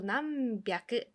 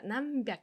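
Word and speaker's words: なんびゃく: 그때는 난이 써가지고 남백 똑같이 뼈 소리가 납니다. 남백.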